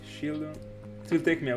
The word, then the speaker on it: Shieldon: unfortunate by the way Sheldon shieldon let me start and pronounce it correctly shieldon it will take me